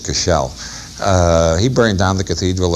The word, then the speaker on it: Cashel: The other great thing about Silken Thomas is that he burned down the Cathedral of Cashel, or the Irish pronounce it Cashel.